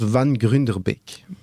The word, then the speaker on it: Van Grunderbeeck: Donc c'est un nom de famille d'origine nerlandophone et ça se prononce Van Grunderbeak.